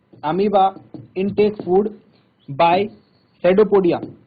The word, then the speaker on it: pseudopodia: और अमीबा जो है, अमीबा इनटेक फूड बाय सेडोपोडिया। तो बताया था आपको, सेडोपोडिया एक मूवमेंट होता है। अब सेडोपोडिया का मतलब ये नहीं कि इसकी स्पेलिंग एस से स्टार्ट होगी, ये बात जरूर ध्यान रखना।